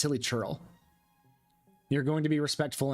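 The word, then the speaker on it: Hilichurl: purposefully say really but I also say hilly churl or hilly curl I say hilly curl when it's hilly churl you're going to be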